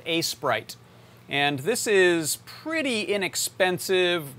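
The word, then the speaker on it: Aseprite: me but it's the it's called a sprite but it's spelled a e s p r i t e so go go look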